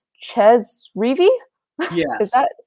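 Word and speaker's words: Chez Reavie: you about, though, actually was, I hope I pronounced his name right. Ches Reavy?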